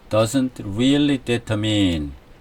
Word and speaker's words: Champs-Élysées: 이는 발음 이 프랑스어이기 때문 입니다 . 샹젤리제 ( Champs-Élysées) 는 프랑스 의 번화 한 거리 로 , 영어 로 는 Champs-Élysées 라고 하지만 , 우리 는 프랑스어 발음 그대로 발음 해야 합니다 .